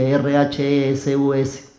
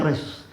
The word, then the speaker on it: Rhesus: Existe una enfermedad, de esas enfermedades extrañas, se llama Rhesus, no sé si así se pronuncia, R-H-E-S-U-S, Rhesus, se lee en castellano así, pero con una H intermedio.